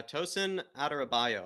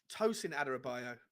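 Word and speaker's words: Tosin Adarabioyo: what are you how do you say his name is it adarabi bioyo is that his name adara bioyo uh tosin aderabaio i believe tosin aderabaio okay should we call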